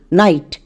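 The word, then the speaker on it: night: এই ওয়ার্ডের উচ্চারণটা হল এন আইজি এইচটি নাইট এখানে আমাদের জিএইচ সাইলেন্ট একই রকমভাবে আরো কয়েকটি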